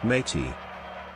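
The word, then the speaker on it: mate.: in my head Cannon the team known as mat8 is actually pronounced as if you're all Pirates ladies and gentlemen introducing mate yes best region in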